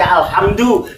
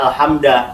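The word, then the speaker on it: الحمدُ: wajib dibacanya dengan domah Jadi mesti dibaca alhamdu tidak mungkin dibaca alhamda atau alhamdi atau alhamd engak mungkin Kenapa karena dia mtad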